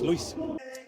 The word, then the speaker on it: Louis: Um you know, when I was younger, I also remember people calling me Lewis and you know, it took some time for me to be proud and say my name is Louis.